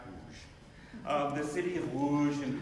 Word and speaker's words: Łódź: The city of Łódź, and if you look at it if you see it written, it's spelled L-O-D-Z, but it's pronounced Łódź.